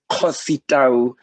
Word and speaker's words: Kgositau: Just maybe to make a bit of a correction in terms of the pronunciation of my surname, it's Kgositau.